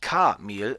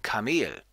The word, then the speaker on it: Kamel: Im zweiten Fall wird die zweite Silbe betont, das heißt eben nicht Kamel, sondern Kamel.